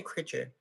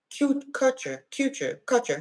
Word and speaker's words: Kutcher: Why I say Critcher? Kutcher.